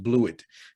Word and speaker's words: Blewett: Like his name is pronounced Blewett. Like you got a kicker whose name is he blew it. Like not like blue.